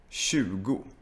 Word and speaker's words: tjugo: So in Swedish we have the TJ sound, which is very similar to the English SH sound. And for Spanish speakers, it's this sound. Shh. Like you're asking someone to be quiet.